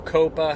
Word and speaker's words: COPPA: of this comes from copper or Coppa however you want to pronounce it Co PPA the Child